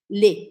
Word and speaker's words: les: cores essa primeira palavrinha lê lê lê é as tanto faz feminino ou masculino lê e a gente fala assim lê tá escrito l e s mas eu vou falar lê lê seja feliz e